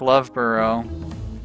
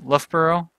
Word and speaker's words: Loughborough: to give him repair it's pronounced more like love borough Olaf Loughborough Loughborough I'm sure I'm sure